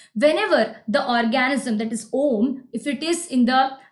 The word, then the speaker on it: olm: Om. OLM, pronounced as Om. Yes, Om.